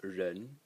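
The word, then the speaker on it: 人: It's pronounced ren, and it's a person.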